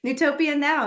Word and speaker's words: Newtopia Now: I'm really excited about I'm going to mispronounce this maybe, Newtopia Now. Oh, you nailed it. That's it. Yeah. Well, we're done then. That's great. Drop the mic. We're finished here. Newtopia Now.